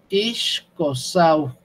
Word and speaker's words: Ixcosauqui: Ixcosauqui. Aquí es una U francesa otra vez, una U gutural, muy gutural.